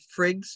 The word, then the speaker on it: Frigg: Frigg is, and so that's how it's pronounced.